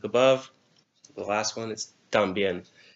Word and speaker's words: también: The last one is también. T-A-M-B-I-E with an accent on the E-N. También. 3.